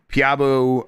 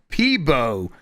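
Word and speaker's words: Peabo: Uh Piabo uh Piabo Bryson. Yeah, Piabu Bryson says, "Boys, I really appreciate all the shout outs lately, but it's pronounced PBO with a B.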